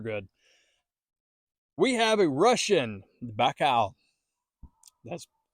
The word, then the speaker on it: Baikal: We have a Russian Baikal. That's pronounced correctly.